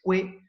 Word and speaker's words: quae: Por eso digo fides que y fides qua, ¿no?